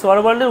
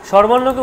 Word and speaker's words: স্বরবর্ণ: ঠিক আছে, এরপরে বলছি কি স্বরবর্ণের উচ্চারণ বিধি। উচ্চারণ বিধিটা কেমন, ভালো করে শুনুন, এখানে কিন্তু বিষয় স্বরবর্ণকে উচ্চারণ করতে গেলে স্বরবর্ণ, আমরা বলছি স্বরবর্ণ কিন্তু নয়, এখানেই তো চেঞ্জ করতে হবে, বলতে হবে স্বরবর্ণা।